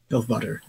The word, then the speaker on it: Elfwater: Elfwater. Sounds like ale water.